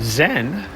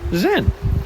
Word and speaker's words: Zen: And then Zen, traveling up remember, 10th to 12th century to Japan, is the Japanese pronunciation of the same Chinese character Chan. So think Chan, Zan, Chan, Zan, Chan, Zen, right?